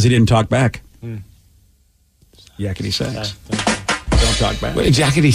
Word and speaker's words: Yakety Sax: I thought it was yakety sax because you play it on the sax. It's not yakety sax? I don't know, but sax doesn't rhyme with back. Sack does. Listen, if you're rhyming sack with back, yeah. Is it sax? It is. Yeah, it's sax. S-A-X.